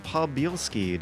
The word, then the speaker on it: Podbielski: My name is George Weedman and I have with me Landon Podbielski. Did I pronounce that right?